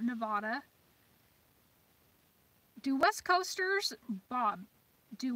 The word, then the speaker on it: Nevada: gun laws for nevada pronounced nevada not nevada do west coasters bob